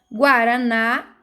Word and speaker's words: guaraná: então é uma oxítona guaraná ah ah é uma oxítona pois a sílaba forte é na Guarani ne é uma